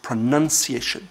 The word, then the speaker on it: pronunciation: or mispronouncing but is pronunciation there is no noun in that word second word that's what